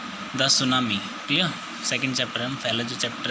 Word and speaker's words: tsunami: ठीक है लेकिन इसका जो प्रशिक्षणों का या सुनामी जुटी इसमें साइलेंट होता है ठीक है तो क्या उसे